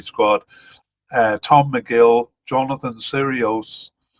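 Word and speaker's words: Sirois: Uh Tom McIll, Jonathan Serios uh or Siroa uh is probably how it's pronounced.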